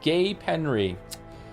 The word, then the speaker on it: Gapenry: Gave them Loretic Gold, pronounced Gay Penry.